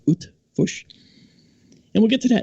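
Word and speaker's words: Eötvös: That's Eotvosh, pronounced Utvush.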